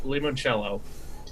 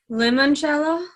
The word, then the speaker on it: limoncello: basically what I said it's lemon first you not Limon it's pretty I thought it's spelled limo like l i n spelled Elvis how lemon is spelled yeah the I sound in Italian makes an e sound lemon jello or if